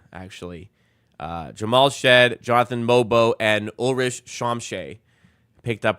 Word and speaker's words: Mogbo: You might get to see some Mobo. You might get to see some Jacoby Walter. By the way, Jonathan Mogbo, you don't pronounce the G. I've been alerted it's Mobo, actually. Jamal Shed, Jonathan Mobo, and Ulrich Shamshay picked